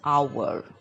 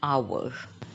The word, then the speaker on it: hour: one more confused word hour start with h consonant but it is pronounced as our because H is a silent letter so we say the hour now try it once